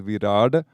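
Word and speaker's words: Virāṭ: it has another name, which is Virad. You may have heard that. It's spelled V-I-R-A-T, and the T has a little dot underneath if you want to be really particular about it.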